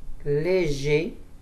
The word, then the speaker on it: léger: Léger. On ne prononce pas le R.